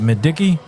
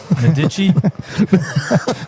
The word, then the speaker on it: Medici: Is it Medicki? Medici. It's not Madiki, right?